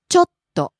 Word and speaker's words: ちょっと: Next, ちょっと。 bit, a little, ちょっと。ちょっと。 falls after the first syllable, stays low.